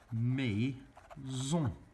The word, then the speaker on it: maisons: you would say mes maisons. And you'd add that silent S onto the end.